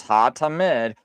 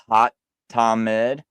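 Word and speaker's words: התמיד: So here's ha-tamid, the continual, because that's how you say it. That H-A-H-A-T, ha-tamid.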